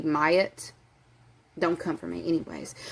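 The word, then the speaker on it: Maat: It's like M-A-A-T, Mayat.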